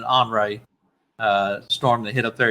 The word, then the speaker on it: Henri: Every time I see it, I want to say Henry, but they're pronouncing it Henri.